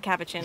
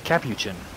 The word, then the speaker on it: capuchin: it says like monkey it's not cabbage no it's not cappuccin i you got me saying it wrong now angel it's not it's it's capuchin it's capuchin not it's capuchin it's not a pushy